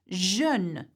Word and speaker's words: jeune: The letter J in French is J, but it is pronounced je in words. So let's have a look at jeune, which is young, jolie,